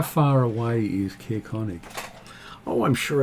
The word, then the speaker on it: Caerkonig: Caerkonig. Spell it for me? Caer-Konig. Konig. Caerkonig. Okay. Wherever you'd like to say it. And Konig is spells German king. it's the castle of the king.